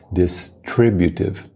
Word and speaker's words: distributive: A pronúncia da palavra em inglês é distributive. Distributive. A ênfase é no tri, distributive.